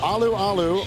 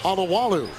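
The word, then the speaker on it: Alualu: I don't know if we're going to call him Aloo Aloo or Alawalu uh because he's changed his name pronunciation in midseason.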